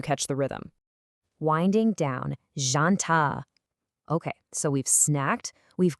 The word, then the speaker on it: janta: Now, the absolutely crucial point here is that starting J sound. It is definitely not a hard jumping J like you'd hear in the English word jump. It's incredibly soft. Actually, think of it much more like the S sound right in the middle of the English word measure.